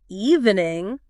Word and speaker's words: evening: even native speakers like evening. Evening. Oh, yeah. It's so easy to slip into that three syllable trap. Evening. Yeah, but it's actually only two syllables.